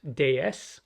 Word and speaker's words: DS: letters would be pronounced Des which sounds exactly like the French word for goddess moving from France to